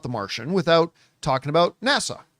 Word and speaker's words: NASA: me and say, John, that's not how you pronounce the word. It's NASA, not Nassau.